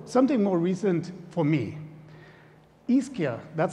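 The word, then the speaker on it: Ischia: thing and so something more recent for me iskia that's how you pronounce it an island off of naples near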